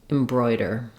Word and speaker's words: embroider: in the final syllable embroider you might find it helpful to start on the stress syllable and then add the first syllable back that would sound like Brer embroider then when we move